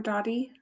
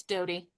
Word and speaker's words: Dodie: Okay, next up we have Dodie or Dy. I'm sorry if I mispronounced your name. It's Dodie.